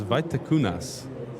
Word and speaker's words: Vaitekunas: If there are any Lithuanians watching, I will try to pronounce Paulius' surname. It's Vaitekunas.